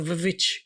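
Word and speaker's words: VVitch: So like the witch is not the witch is the vich cuz it's it's two v's to be more Yes.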